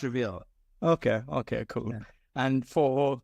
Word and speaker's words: REV3AL: Goa, and advisor of, it looks like Reveal, but it's REV3AL. Yeah, that's how it's pronounced, Reveal.